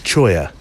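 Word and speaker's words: cholla: I looked up it's it's spelled c h La a but you I just hear it said as choya um I looked it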